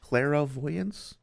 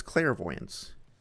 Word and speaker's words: clairvoyance: Cleroyance. That's spelled clairvoyance. Is it? No, it's clairvoyance. They say did they say cleroyance?